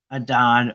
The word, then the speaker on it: Adad: So Hadad, Adad, Akkadian is pronounced Adad or Ishur, Sumerian, was a storm and rain god in the Canaanite and ancient Mesopotamian regions, or religions, I should say.